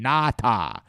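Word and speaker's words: Ngata: of jim nance because he pronounced uh halodynada's name na ta he was like there's a nice play by nata we're like what the hell is that guy and then jim nance is like no we talked him the night before he said that's actually how my name is pronounced and then elodie was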